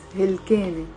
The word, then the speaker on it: هلكانة: 3 syllables. هلكانة.